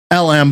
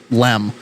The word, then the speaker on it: LM: Um, so, uh, using the lunar module as a lifeboat, uh, the lunar module or LM, but they pronounce it LEM.